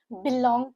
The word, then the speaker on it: belong: Stress is on the second syllable. Again the P e the spelling is B. The pronunciation is B I but while we write it is B E.